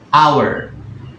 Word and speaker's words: hour: ya Ini lihat perbedaannya an hour karena ini kan bacanya bukan unh ya guys enggak pernah h-nya itu enggak kesebut Jadi mirip kayak ibaratnya dia tetap jadi ini pengecualian ya guys ini an hour gitu ya karena di bahasa Inggris h-nya itu kan enggak disebut gitu an hour itu